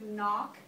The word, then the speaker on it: knock: looked at the word knock that's a word that also has a silent letter remember that you guys knock is a word where you don't pronounce this letter you don't pronounce okay